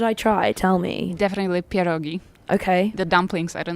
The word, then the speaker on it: pierogi: Definitely pierogi.